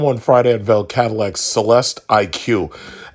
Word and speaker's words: Celestiq: friday at vale cadillac celeste iq and uh basically that's the way you're kind of supposed to pronounce it because the iq is their marquee for an electric vehicle just like in mercedes how their cars are supposed to be eq and then s or eqb